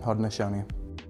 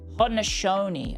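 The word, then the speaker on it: Haudenosaunee: But I don't know Is it Oh, let me have a go at pronouncing it. It's Ho-de-no-sau-nee? Iroquois Confederation, Ho-de-no-sau-nee. Ho-de-no-sau-nee.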